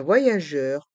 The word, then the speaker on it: voyageur: un voyageur une voyageuse dans le mot voyageur le y se prononce avec la voyelle o voie et aussi le y se prononce avec la voyelle a ya VO voyage la lettre G est suivie de la voyelle e donc se prononce je Jeur voyageur dans le mot voyageuse